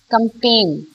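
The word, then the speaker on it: campaign: कंपेन। कंपेन जब आप पढ़ते हैं तो you pronounce it एज कंपेन पी ए आई एन सो जी is silent right when you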